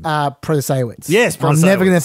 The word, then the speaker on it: Protasiewicz: I've already forgotten how to pronounce her name. Protasiewicz.